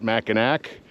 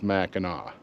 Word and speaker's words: Mackinac: And those that pronounce it Mackinac, everyone looks at them with an eye of suspicion, because no matter how it's spelled, it's Mackinac.